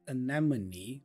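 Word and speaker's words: anemone: in a safe place I find interesting the pronunciation of this word anamon we have two schw Sounds here the first a is aw and then the O after m is also a so a Anon hey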